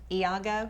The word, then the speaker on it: Iago: Now you were Iago.